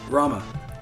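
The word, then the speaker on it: Ramuh: Officially, you don't pronounce anything right. Yeah, no, it's Ramu.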